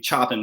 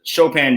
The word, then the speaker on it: Chopin: For which the entire presentation I pronounced his name Chopin without realizing.